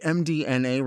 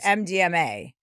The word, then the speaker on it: MDMA: I always thought that, so- - Well, that's not how you say it, so- - That's not it? - No, it's MDMA. MA, not MDNA.